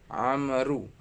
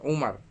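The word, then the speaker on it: عمرو: Ya, di sini kalau antum bisa lihat tulisannya adalah Amru, ain mim ro waw. Ya, bukan Umar. Kalau Umar ain mim ro Umar. Tapi kalau ada ain mim ro ditambah waw belakangnya dibacanya Amru.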